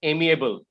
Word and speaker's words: amiable: And the second word is amiable, AMI. Yes, sir. ABLE, AMI ABLE. Okay, sir. Amiable is how you pronounce the word.